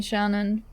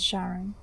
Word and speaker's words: Sharon: Yeah, lots of people like to call me Shannon, but my name is Sharon.